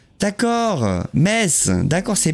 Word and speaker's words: Metz: Le T ne se prononce pas. D'accord, Metz, d'accord, c'est Metz, ok, d'accord.